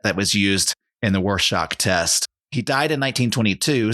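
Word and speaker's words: Rorschach: assessment known as the warshock test as we now know it am I pronouncing it right warshock R Shack what do you think like shock sounds good sounds shock as in shocky yeah yeah he was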